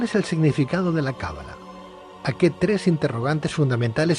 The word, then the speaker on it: cábala: buenas noches Pedro es cábala con el acento en la primera vocal cábala o cala a ver